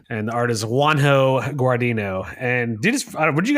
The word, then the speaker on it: Juanjo: pronounce this dude's name is it you think it's wanho or Wan Joo guito how is it spelled it's spelled juu an J definitely wanho because it's yeah you're probably